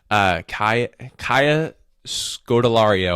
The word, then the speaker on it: Kaya Scodelario: Now, in that role, I would go with the 32-year-old Kaya Scodelario, I believe is how you say her name.